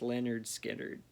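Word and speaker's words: Lynyrd Skynyrd: lou reed transformer classic and uh leonard skinner pronounced leonard skinner some good songs on there the mom is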